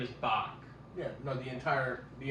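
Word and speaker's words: Boq: Glenda calls him bck so his name is Bach yeah no the entire the entire movie she didn't pronounce his name right okay that was that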